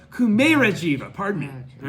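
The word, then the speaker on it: Kumarajīva: Thanks to no, I keep mispronouncing it. So now that I've tried to prefer it, Kumera Jiva. Pardon me, not Kumara Jiva. Kumera Jiva.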